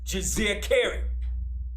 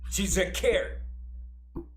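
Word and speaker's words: Djeserkare: And he had a throne name, which was Jizekeri. I'll spell it. It's D-J-E-S-E-R-K-A-R-E. That is his throne name, Jizekeri.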